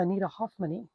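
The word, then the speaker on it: anitahoffmannae: This is a Faunopelma Anita Hoffmanni. And this one really does have the E sound at the end because it's the combined AE letter.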